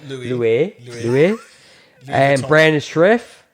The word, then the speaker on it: Louis: It'd be Lewis, but they want to pronounce it like Louis.